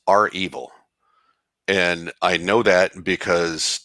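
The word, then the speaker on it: REvil: uh first of all i've found that it's pronounced our evil and i know that because that's what rachel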